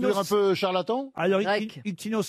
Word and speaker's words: Ictinos: Ça s'écrit comment, Ictinos? Scientifique, non, le mot serait un peu fort. C'est un peu charlatan? Alors, Grec. Ictinos s'écrit I-C-T-I-N-O-S. Ouais. Parfois, on peut aussi le lire Ictinus.